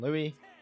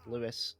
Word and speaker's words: Louis: between seeing louis and louie a few times that's just because it's it's it's the spelling of louis but pronounced lewis like actually pronounced lewis but yeah i mean